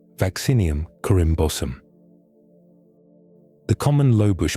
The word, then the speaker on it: Vaccinium: Botonists place blueberries in a genus called vaccinium, pronounced vacin eum.